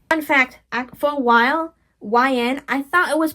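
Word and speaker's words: Y/N: Fun fact, for a while, YN I thought it was pronounced Yin.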